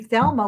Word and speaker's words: Thelma: my mother named me thelma which people find very funny because they when you say it in spanish you don't pronounce the h it's just because the h is silent but she always liked